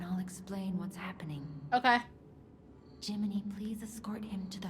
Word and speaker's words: Gemini: Also, they spell Jiminy like Gemini, but they still pronounce it Jiminy.